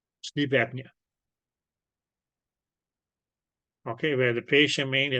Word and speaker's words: apnea: Not really, because here it's okay, the P is not silent, so it's actually going to be pronounced as apnea.